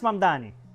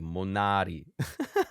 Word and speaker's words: Mamdani: Fíjense, nadie sabe pronunciar mi apellido. Es Mamdani. Es Mamdani, pero a cada rato me dicen Monari.